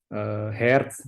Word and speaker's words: Hertz: atau sekitar 10 Hz tulisannya hertz kita bacanya hairs karena dia orang Jerman jadi loketnya heartz sampai dengan sekitar 10